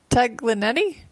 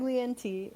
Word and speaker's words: Taglienti: Hello, everyone, and I'm welcome back, and I'm here with Tara Taglienti. Did I say that right? It's Go ahead. Taglienti.